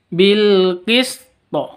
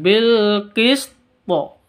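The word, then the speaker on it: بِالْقِسْطِ: lima atau enam ketuk bilqisto ada alif lam tanda sukun alqamariyah terus bilqist cara bacanya seperti itu ngok sukun dulu sinnya terus di thya dipantulkan bilqisto seperti itu karena bacaan e qolqolah kubro Oke kita ulang sekali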